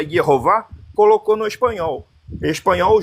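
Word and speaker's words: Jehova: em alemão ele pegou a grafia Jeová em alemão se pronuncia yova colocou no espanhol espanhol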